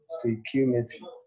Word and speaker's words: stoichiometry: Say it after me, stoichiometry. That is the correct pronunciation of the topic.